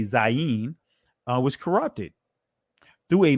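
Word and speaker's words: zayin: is showing you how the Zion which they call it today zayeen uh was corrupted through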